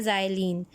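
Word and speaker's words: xylene: उसको हम कहते हैं ज़ाइलीन। दिस इज़ नॉट, ये एक्स है लेकिन इसको जब प्रोनाउंसिएशन होती है तो एक्स को जी कहा जाता है, और ये आपके पास बन जाता है ज़ाइलीन।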